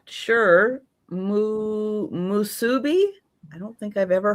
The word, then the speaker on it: musubi: Musubi? I don't think I've ever heard of a musubi.